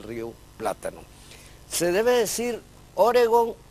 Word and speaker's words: Oregón: Se debe decir Oregón u Oregón. Esto es relacionado, referido al estado uno de los estados de Estados Unidos. En español es palabra aguda y termina en consonante N, por lo tanto, tíldela y pronúnciela como tal, Oregón, Oregón.